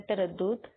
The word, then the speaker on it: تردد: کریں۔ پہلا لفظ ہے تردد۔ تے پر زبر آئے گا، رے پہ بھی زبر، دال پر شد اور پیش اور دال پر جزم۔ چونکہ دال آخری لفظ